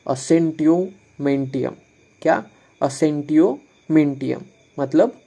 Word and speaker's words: Assentio mentium: इसका प्रोनाउंसिएशन ऐसा है कुछ, असेंटियोमेंटियम।